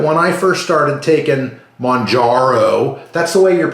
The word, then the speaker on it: Mounjaro: remind everybody that when I first started taking Monaro that's the way you're pronouncing right properly I've been corrected numerous times I always say mro and I'll probably slip up and keep saying